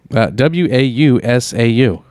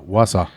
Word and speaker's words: Wausau: it out that's right w-a-u-s-a-u s-a-u oh warsaw okay wausau wisconsin yeah it's indian